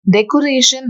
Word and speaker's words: decoration: Decoration has 4 syllables. Decoration. We have to mark the stress on the last second syllable, that is ration.